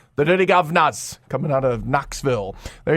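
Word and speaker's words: Dirty Guv'nahs: the duty Governors and I'm saying it just the way it's spelled actually the dirty govas gu u v apostrophe n a HS the dirty govas coming out of Knoxville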